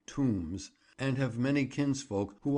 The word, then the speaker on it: Tomes: The Tomes family, who pronounce their name Tombs, and have many kinsfolk